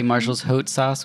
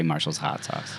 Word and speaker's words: Marshall's Haute Sauce: Some people say Marshall's Haute Sauce, which is how it's spelled, H-E-U-T-E. But all of our friends and family pretty much just say Marshall's Hot Sauce.